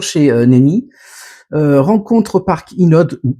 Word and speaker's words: Hinode: Rencontre au parc Inode, ou Inode, si on le prononce à la japonaise.